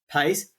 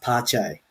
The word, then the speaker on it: Pace: It was at about this time that many realized that Pace, I think it's actually pronounced Pache because he's Brazilian.